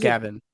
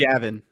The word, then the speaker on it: Javin: So it's spelled like normal Gavin. It's not Gavin. Here's a Mizzou-related Javin. question. It's Javin.